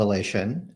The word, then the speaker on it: Alation: Did I pronounce that right? Alation? That's right. It's called Alation.